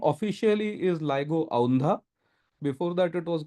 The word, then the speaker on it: LIGO: clarity uh two points one is it's not pronounced Lio it's pronounced ligo nobody here called it Lio but many people often do so it's called ligo and the name is ligo India or Lio